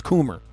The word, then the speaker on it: Coomer: It's not Cummer, it's Coomer, Bob.